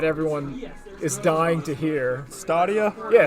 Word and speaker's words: Stadia: Stadia? Yeah, Stadia. Oh, Like is that how you say it? Yeah, it's like stadium.